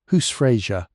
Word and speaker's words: husfreyja: of a household is husfreyja. Say it slowly if you like, husfreyja. Let the syllables sit in your mouth for a moment and feel their weight. Hus, house. Freyja, lady, woman of power, and